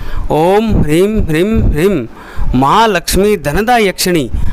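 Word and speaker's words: ह्रीं: लिख लीजिए मंत्र, ओम ह्रीम, जो है के नीचे र लगता है उसको बोलते हैं ओम ह्रीम।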